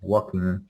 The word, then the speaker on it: walking: in the pronunciation of the word walking we don't say the l so we say walking without the l okay walking and i heard i